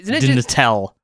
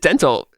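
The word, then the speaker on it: Dntel: Um, hey, hey Troy, how do you how do you pronounce D N T- Eel? Cuz I've always pronounced it didn't tell and I dental, which is Is it dental? It's just dental.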